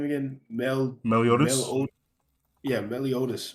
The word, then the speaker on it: Meliodas: I was gonna ask though, how do you pronounce his name again? Meliodas.